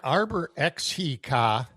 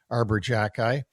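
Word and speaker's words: Arber Xhekaj: Yeah, Arbor Xhekaj, which is pronounced Xhekaj for whatever reason.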